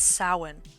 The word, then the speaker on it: Samhain: And then this one looks like it's pronounced Samhain. It's Samhain, because it's either Gaelic or Irish. I can't remember which language it is, but it's Samhain.